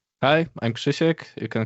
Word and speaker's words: Krzysztof: me is Kishek or Kristoff. Hi I'm Shishek. You can call me. It's the same name with just a Polish weird pronunciation.